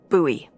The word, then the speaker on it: Bowie: out this huge Rusty Bowie knife it's actually pronounced buoy what no no it's